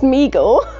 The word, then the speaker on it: Mego: these figures in response to an overwhelming demand mego nego pronounced meagle corp was started by his father david abrams